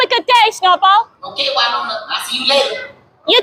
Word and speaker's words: Wynonna: How do you pronounce it? Wynonna.